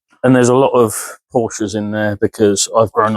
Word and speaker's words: Porsche: I've grown up around Porsches all my life, so, and yes, that is how it's pronounced.